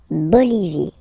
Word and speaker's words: Bolivie: Okay, final E, not pronounced. La Bolivie.